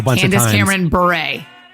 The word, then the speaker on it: Bure: Candace Cameron Bure. I'm sorry, but Beret is B-E-R-E-T. And hers is B-U-R-E.